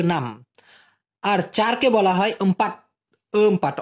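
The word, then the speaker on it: empat: ছয়কে মালয়েশিয়ান ভাষায় বলা হয় এ নাম, আর চারকে বলা হয় এমপাট। এমপাট, অনেকে আমপাট বলে থাকে, আসলে উচ্চারণটা হবে এমপাট।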